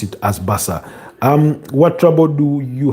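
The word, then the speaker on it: Barça: Basa is pronounced as baka is pronounced as basa not baka.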